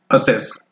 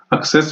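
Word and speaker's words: Access: अगला प्रश्न हमारा रहेगा what is the form that we can create in एमएस असेस। एक्सेस भी कई कहते हैं बट असेस यहाँ पे प्रोनाउंसिएशन इसकी रहती है।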